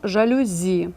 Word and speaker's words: жалюзі: іде на закінчення драва варіант б жалюзі чи жалюзі так правильно жалюзі російською до речі так само жалюзі варіант в жаркий чи